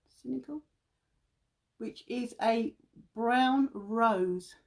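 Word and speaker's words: Sensical: think it's called cynical s-e-n-s-i-c-a-l that's how you pronounce it cynical which is a brown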